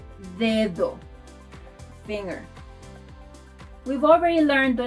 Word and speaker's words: dedo: To pronounce this letter like a native, try to push your tongue forward, D. Try saying dedo, dedo, finger.